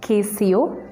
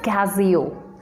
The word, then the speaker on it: Casio: is instagram instagram this word how will you pronounce it well this word is not kco this word is casio calculators i hope this video is informative to